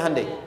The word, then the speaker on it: Hyundai: bikin Honda sini HD hyundaikan dibacanya Handai sana Honda apapun yang